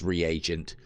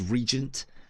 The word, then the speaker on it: reagent: Yeah, it is pronounced reagent. I've never I suppose I've never paid attention to the A within that and always seen it as regent, but there you go. Reagent.